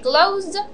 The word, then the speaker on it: closed: There are exceptions like excuse and closed. The sound, the last sound is S, but the pronunciation we make it like D. Okay, closed and excused.